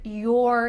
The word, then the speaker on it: your: the word you're here notice my lips when I say your compared to your it's a little bit different it kind of sounds like ye are this is the most natural fast pronunciation for the word your so let's say that